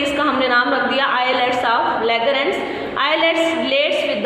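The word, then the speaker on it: islets: These are called the आइलेट्स ऑफ लैगरेंस। The word is आइलेट्स ऑफ लैगरेंस, एस इज साइलेंट।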